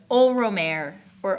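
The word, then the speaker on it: Ole Roemer: r or ol RoR I'll show you how how we spell it old not like my good old friend RoR but like o l e crazy first name oh RoR that's an r o e m e r now um romor wasn't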